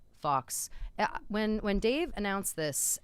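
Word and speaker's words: Fawkes: I thought it was pronounced like fix. Fox the Phoenix.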